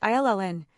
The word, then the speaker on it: uilleann: Then there are uilleann pipes, Irish bagpipes, pronounced illn, banjos, flutes, concertinas.